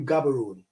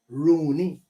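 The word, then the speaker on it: Gaborone: the capital of batswana they will tell you gabaron right but when you live in the city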